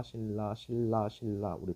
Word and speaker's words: 신라: 신라 신라 신라 신라. 우리 발음 발음은 이렇게 표시하죠.